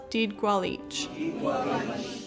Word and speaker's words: didgʷálič: proper pronunciation of the center's name, which is pronounced didgʷálič.